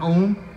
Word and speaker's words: Ogham: I put a record out about a year ago called American Ohm. It's spelled American Ogham because I didn't want anybody to be able to find it, apparently.